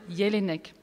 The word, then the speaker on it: Jelinek: Et ne vous inquiétez pas, si vous n'entendez pas prononcer Jelinek, je vais le prononcer tel qu'il l'est en Autriche et donc appeler mon auteur Elfriede Jelinek.